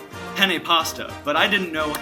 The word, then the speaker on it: penne: the board and I saw that it said penne pasta but I didn't know how to pronounce the word penne so I asked everyone what peen pasta was and in doing that it instantly